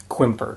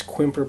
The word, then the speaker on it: Quimper: just gonna call it quimper let's just call it quimper because we're white Americans who just pronounce things like that okay so um the